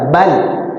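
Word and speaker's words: بل: Ada bal, lam tuh kalau sukun dibaca ya bal. Jadi lidah kita nempel di langit-langit, ya langit-langit atas tuh. Bal, jangan dilepas ya.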